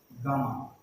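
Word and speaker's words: gamma: ठीक है, कुछ लोग गैमा भी प्रोनाउंस करते हैं तो उससे कोई फर्क नहीं पड़ता है, बस सिंबल ये रहेगा और स्पेलिंग ये रहेगी। ठीक है, गामा बोलना है, गैमा बोलना है, जो बोलना हो।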